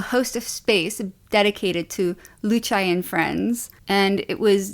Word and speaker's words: Luce: The name is Lucci, I think that's how you say it, but it's Luce.